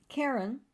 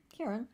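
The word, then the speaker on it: Charon: death picture is that full yeah so um Karen it's spelled c-h-a-r-o-n Karen we both laughed at the pronunciation I always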